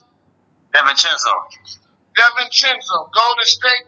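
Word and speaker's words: DiVincenzo: you pronounce his name Delo how how you pronounce it Deon chenzo Deon chenzo gold to State real idiots for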